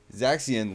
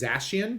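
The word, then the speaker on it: Zacian: Wahoo continue and Zaxby zaxian looking fresh is that how you say his name I'm pretty sure it's zashian but I think you're pretty close yeah it's definitely looking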